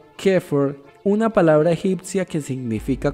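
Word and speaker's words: Xeper: A través del proceso de Sefer, pronunciado Kefer, una palabra egipcia que significa convertirse.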